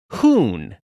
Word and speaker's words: Huhn: where this nickname originated it's pronounced like spoon but with an h hoon means chicken the